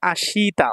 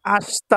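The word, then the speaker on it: あした: পারেন আপনি সমস্যা নাই তবে তা বা তে যদি দিয়ে শব্দ শেষ হয় ওই শব্দের পূর্বে যদি শি বা সু থাকে তাহলে সেটার উচ্চারণ স্বর মতো করলে ভালো এরকম আছে অনেক জায়গায় হ্যাঁ তাহলে এটা আসিতা বলতে পারেন সমস্যা নাই আশতা বললে সবচেয়ে ভালো হয় টুমরো আগামীকাল আসাতে আগামীকালের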